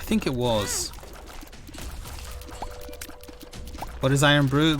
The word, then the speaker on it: Irn-Bru: What is Irn-Bru? Well, brew is spelled BRU, but it's Scotland's national drink.